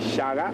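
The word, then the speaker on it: Shaka: an offshoot of the Zulu Nation Under King Shaga so quite often everyone refers to Shak where is spelled s h a k a but Zulu a is pronounced as a g so his name is actually Shaga and I'll tell you how he got his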